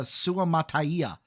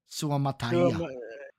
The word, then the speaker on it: Suamataia: Suamataia out of BYU. Nice. Beg your So pardon? they get their tackle. Dude, once I learned how to say his name, I love that last name. Suamataia. Suamataia.